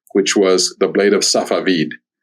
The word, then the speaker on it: Safavid: was The Blade of Safavid, is how it's pronounced in Persian.